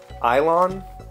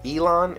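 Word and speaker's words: élan: travel magazine elon e-l-a-n i don't know if it's actually ilon elon it's it's an e with a little and the pronunciation guide says e-y-l-a-n and the emphasis is on lawn so elaine island i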